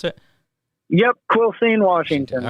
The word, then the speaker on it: Quilcene: your hometown Quil Quilcene is that how you pronounce it yep Quilcene Washington all right I had it written down